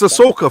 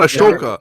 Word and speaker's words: Ahsoka: It's Ahsoka for fuck's sakes. It's not Ashoka.